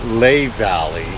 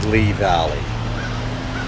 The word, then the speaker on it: Lehigh Valley: Lehigh Valley. Lehi Valley Gorge. Jim Thorp. And you know that it's funny. Um the way it's I was pronouncing it Lelay Valley and I actually uh in the visitor center